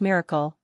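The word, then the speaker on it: MRKL: 1 modular reasoning knowledge and language pronounced miracle are a neuros symbolic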